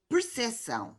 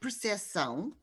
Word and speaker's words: percepção: It's pronounced in Brazilian Portuguese, but not in European Portuguese. So the new rule of the spelling reform in these cases is to maintain this P in the national varieties in which it's pronounced and to eliminate it in the varieties in which it's not pronounced.